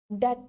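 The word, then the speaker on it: debt: discuss कर लेते हैं इसको डेप्ट नहीं बोलना है ठीक है डेट होता है ये कर्जा जिसे हम बोलते हैं ठीक है य डेट इसको प्रोनाउंस करने ठीक है बहुत सारे बच्चे इसकी गलती कर रहे डेप्ट बोल डेप्ट मीस डेप्ट ठीक है बी साइलेंट है ठीक इसमें तो यही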